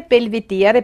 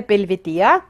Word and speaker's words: Belvedere: im wörterbuch es ist die aussprache belvedere belvedere also das wiener belvedere heitz wiener belvedere und nicht wiener belvedere in der straßenbahn fälschlicherweise